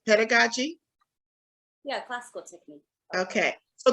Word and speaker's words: pedagogy: um is it am I saying it right pedagogy yeah classical technique okay so talk to us